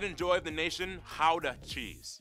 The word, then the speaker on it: Gouda: And the pride and joy of the nation, howdah cheese. Yep, that's how you pronounce it, guys. Oh. Howdah. Okay. I definitely thought it was Gouda.